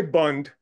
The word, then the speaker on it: Bund: with okay this bone how do you pronounce it the Boone group that they yeah you can say Bund b d correct me from wrong